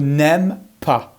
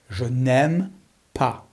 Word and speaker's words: n'aime pas: I don't like her n'aime pas make sure you don't pronounce the S n'aime pas n'aime pas so how